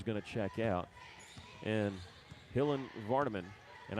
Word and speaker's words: Hillen: And Hillen Vardaman, and I've been mispronouncing Hillen's first name. I've been saying Hillian, and I am so sorry about that.